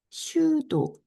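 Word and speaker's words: pseudo: 슈도. 여기에 P가 묵음입니다. 그래서 슈도, 여기 보면 넘버 제너레이터라고 해서 소프트웨어 알고리즘에서 난수를 결정적인 적인 수열로 생성하는 장치다.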